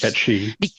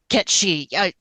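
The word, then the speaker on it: Cait Sith: Ketchi. Ketchi. Because of Final Fantasy VII, I know, I feel like understand. I feel like I have to say it right, even though it hurts my soul.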